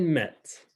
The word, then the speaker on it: mettent: So again, je mets, tu mets, elle met, nous mettons, vous mettez, elles mettent. Same thing with pronunciation where you're not pronouncing the ENT.